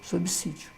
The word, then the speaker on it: subsídio: pessoas fazer essa alteração pronunciando s como z num lugar que não pode que ele não tem justificativa lógica legal o que linda a regrinha então já também sob sítio subsídio ótimo é um jargão